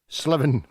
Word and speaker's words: Slaven: Slaven, new pronunciation. Make note of that.